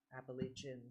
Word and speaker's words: Appalachian: I got it right that it's Appalachia's Appalachian.